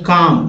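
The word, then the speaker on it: calm: इसे बोलते हैं यहां पर देखिए सी ए ल एम अगर बात करते हैं तो कम इसे बढ़ते हैं कम या आप ऐसे देखिए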